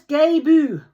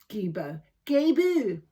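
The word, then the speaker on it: Gebo: Known as Gebu. Gebu. That's how you pronounce it.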